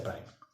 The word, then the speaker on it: primer: Se escribe primer, se pronuncia primer, ¿ya?